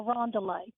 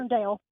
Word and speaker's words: Irondale: one day because he couldn't find how to get to a Rondelay. A Rondelay. Classic. Irondale.